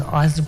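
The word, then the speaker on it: Isley: was just e Brothers say say pronounce that as isy brothers with you make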